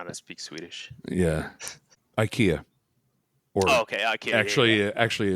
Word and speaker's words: IKEA: to speak Swedish yeah Ikea or okay I actually actually it's actually Swedish meatballs no no it's actually ikia that's how they say it and we just